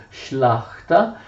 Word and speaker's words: Szlachta: In realtà era molto numerosa, numericamente molto grande, perché la Szlachta comprendeva sia la grande sia la piccola nobiltà. Ecco, io ho scritto qua come si scrive in polacco, si pronuncia Szlachta.